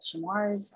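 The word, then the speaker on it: Chemours: became another company called chamois i don't even pronounce that um but folks on the ground tell me it's supposed to rhyme with tumors but i think that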